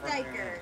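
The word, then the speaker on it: duiker: Yellowback Doiker.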